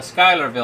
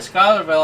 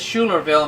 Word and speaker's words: Schuylerville: When I went up to Schuylerville, I pronounced it as Schulerville, and people were like looking at me like I'm crazy.